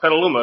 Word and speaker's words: Petaluma: shipping the petaluma because she pronounced it i forgot how she said it i said no it's petaluma it's where i'm wrestling